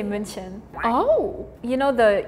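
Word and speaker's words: München: We say Munchin. Oh, you know the U with the two dots? It's like we pronounce it as uh so we say munchen.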